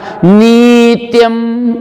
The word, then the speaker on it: नित्यम: नित्यम, न की छोटी की मात्रा, नित्यम, उच्चारण गलत, छोटा वाले को नहीं बोलेंगे। नित, नी के साथ में आधा त चिपका दिया, नित, और य के ऊपर अनुस्वार, नित्यम।